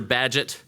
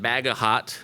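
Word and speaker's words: Bagehot: of sorts and Central Banking circles he's Walter badgett not bagahot as it's spelled and pronouncing it incorrectly at least among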